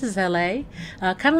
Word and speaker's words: Elle: welcome back to the living room I am La uh that's how the first name is pronounced is La uh kind of like the city in Los